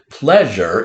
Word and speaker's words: pleasure: So, pleasure is a two-syllable word. We have ple, This might have tricked you. We have a multiple letter phonogram saying its second sound. Scholars, this is E-A, saying its second sound of eh.